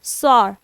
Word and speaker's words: soar: सॉर। Are silent है इसमें। ठीक है, सॉ।